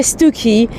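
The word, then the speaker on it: Stiffkey: He became the vicar of Stuki. Stuki, it's in Norfolk. It's next to um Wales by the Sea. Well, Wales next the sea. Um and uh I say Stuki, but it's actually spelled Stiff Key.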